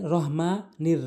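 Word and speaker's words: الرحمن: জন্য শুরু করছি বিসমিল্লাহির রাহমানির রাহিম এখানে আমরা বিসমিল্লাহ যদি বলি অধিকাংশ লোক এই বিসমিল্লাহির রহমানির রাহিম বলে এটি সবচেয়ে বড় ভুল করে প্রথমেই বিসমিল্লাহ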